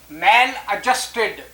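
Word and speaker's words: maladjusted: तो पहला वर्ड है मैल एडजस्टेड, इम्प्रॉपरली एडजस्टेड। इसको एडजस्ट नहीं कहते, डी यहाँ साइलेंट रहता है।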